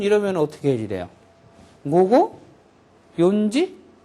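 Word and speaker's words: 四時: 어떻게 해지 돼요 뭐고 요지 거 어 연지가 아니고 뭐라 그랬어요 요지를 한다 그랬죠 요지 요지를 바람 잘못하면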